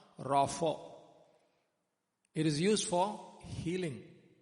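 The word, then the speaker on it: רָפָא: Rapho actually. We say Rapha, but actually it's pronounced Rapho.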